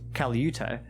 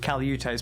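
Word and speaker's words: Calyute: the name of Caliute, some people have different versions of how his name's pronounced, but that's how I'm going to pronounce it, Caliute, who some settlers would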